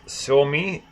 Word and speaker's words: Suomi: They're from how would I pronounce it right? It's Suomi, Suomi.